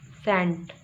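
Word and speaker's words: scent: हैं ई और आई, अगर इनसे पहले सी आ जाता है तो ये क्या हो जाता है, सी साइलेंट हो जाता है। Like सीन, सेंट। अब यहाँ देखें, ये जो हम की आवाज़ आ रही है ये इस सी की आवाज़ नहीं है ना, सेंट में ये सी की आवाज़ है, ये एस की आवाज़ है।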